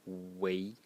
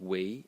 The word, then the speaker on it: 囗: Uh the next element in this character is this one over here which is pronounced way in the second tone. And some of youall might say that well this is pronounced co and should be a mouth.